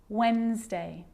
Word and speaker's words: Wednesday: not pronouncing the D in Sandwich I'm just pronouncing the consonant n sound before it try it with me one more time Wednesday handsome sandwich and addy can be very quiet